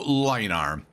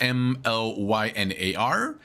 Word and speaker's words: Mlynar: This is Uncle Mlynar. It's spelled M-L-Y-N-A-R.